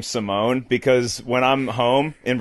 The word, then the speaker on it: Simeone: ever heard of it well I pronounced it Simone but I did I